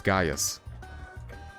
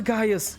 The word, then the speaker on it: Gaius: But I'm pretty sure it's Gaius. Like the guy from Merlin.